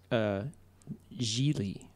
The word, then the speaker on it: Gigli: It's pronounced Gigli.